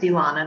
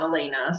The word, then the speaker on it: Ilana: my name is Ilana it's actually pronounced Ilana not Elena so I just like to